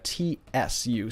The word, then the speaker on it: つ: So a T and a U actually changes the T to almost a T, to like a TSU sound. So this is Tsu. And if you have trouble pronouncing this, just think of cats, right? And then try to say katsu, and then just get rid of the CA.